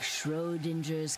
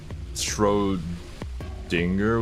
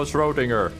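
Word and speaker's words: Schrödinger: Schrodinger with a hard G like finger. For my part, Did she just mispronounce it? I don't know anymore. I'll just go Schrodinger.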